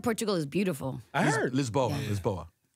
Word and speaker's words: Lisboa: Lisboa. That's how you say it in Portuguese.